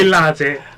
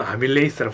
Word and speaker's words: 아밀레이스: 들어있는 아밀라제 때문에 번질이 아밀라제 요즘은 아밀레이스라고 부릅니다. 죄송합니다. 맞아. 아밀레이스라고 부릅니다. 죄송합니다. 제 화석인 게 들통이 나버렸거든요. 아밀- 아밀라제는 독일식 발음인데 혹시 늙으셨습니까?